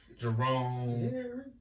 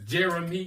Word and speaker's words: Jeremy: some version of my name okay um apparently Jeremy is a very hard name to pronounce for a lot of people um it is what you really say Jeremy Jerry Jerome jry yeah I'm like what's your name Jeremy